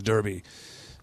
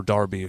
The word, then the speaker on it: Derby: because I would be the Osaka Derby or darby however you want to pronounce it yeah that's also guy